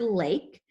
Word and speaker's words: lake: When I say lake, I can hear the A. So that A is going to say its name, A, which means the E is silent. So we're going to scoop it to show it's a vowel consonant E, and we're going to cross out the E because it's silent.